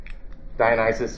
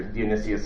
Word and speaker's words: Dionysius: latin form of dennis dionysius or dionysius i'm cool with either one some different pronunciations there